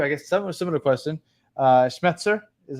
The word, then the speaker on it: Schmetzer: I'll ask you I guess some similar question schmetzer is how you pronounce the name yep he's safe yeah I